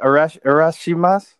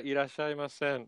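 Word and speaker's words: いらっしゃいませ: What is it? Arashimas? Is that how you say it? I'm not sure what you're trying to say there. It's like welcome in Japanese. Ah, irashaimasen. Yeah. Yeah. Say that. Okay. Yeah. I totally butchered that.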